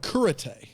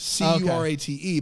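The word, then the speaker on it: Cúrate: It's called Kurate. Okay. C-U-R. See, I went there and I was expecting to be taught karate, but it didn't quite work out. It's spelled curate, C-U-R-A-T-E, but it's pronounced curate.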